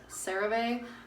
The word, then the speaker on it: CeraVe: Sometimes if it's feeling a little dry or I know I'm gonna go outside, I'll use the, I believe it's pronounced CeraVe, but it's the facial moisturizing lotion.